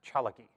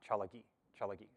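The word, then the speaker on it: Tsalagi: say cherokee and cherokee that is pronounced chalaki um be written or spelled t-s-a-l-a-g-i chalaki so um i would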